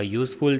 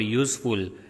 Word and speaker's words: useful: We say a useful thing because useful pronounced with consonant y. See the word useful. So when you speak useful, the pronunciation is with y.